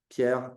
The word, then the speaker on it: Pierre: is Pierre or you gave a very solid pronunciation there Pierre I am I am French originally I've been